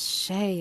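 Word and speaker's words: Shae: Professor Gregorius Shay it was. That's what it is. How do you spell that?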